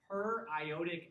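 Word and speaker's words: periodic acid: The oxidation that we're running here is with per-iotic acid. That's HiO4. It's really fun to write out periodic because it's spelt periodic, but pronounced periodic.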